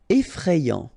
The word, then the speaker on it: effrayant: Effrayant. Okay, so final T not pronounced, and then you get effrayant.